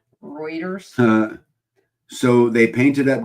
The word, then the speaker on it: Reuters: Dana Green says pronounced Reuters. Ruters is 5B. Reuters.